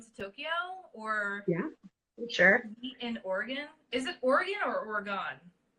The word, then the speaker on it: Oregon: Oregon. Oregon. Like your internal organs, but with a little extra.